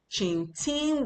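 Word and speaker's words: 请听: Qing Ting Wo Fai. Qing Ting Wo Fai. Qing Ting Wo Fai. Qing is still the third tone. Ting is the first tone.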